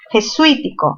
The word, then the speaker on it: jesuítico: Jesuítico. ¿Mayor fuerza en qué sílaba? En la sílaba sui. ¿Qué tipo de palabra es? Es una palabra esdrújula.